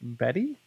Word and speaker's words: Beddi: it's pronounced Betty the Betty smart phone